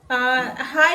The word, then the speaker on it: Hej: High is high only, but the spelling is different. So spelling is Hej.